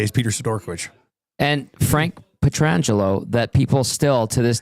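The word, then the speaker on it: Pietrangelo: It's Petrangelo. It's not Peter. It's not Peter. Not like Peter.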